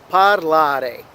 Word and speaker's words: parlare: of the word so we have three syllables right parlare so it's falling on the second syllable other verbs such as